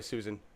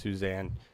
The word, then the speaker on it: Suzan: and I I'm sorry Susan totally get it your name is Susan but it looks like it's pronounced Suzanne because it's got a Z in it but that's just cool